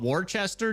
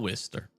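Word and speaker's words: Worcester: Honestly, we should continue to call it Warchester just to piss off the Brits that live there. Yeah, there's no tornado right now, guys. We did have tornado warnings earlier, but they've all expired. I'm kidding. I'm kidding. We'll call it Wister.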